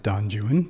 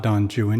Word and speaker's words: Don Juan: name donjuan because um anyone who knows anything knows that it's not Don Jan it's Don Juan or Don Juan uh but that's true